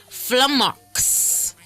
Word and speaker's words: flummox: Today's word of the day is flummox. And it's spelled F-L-U-M-M-O-X.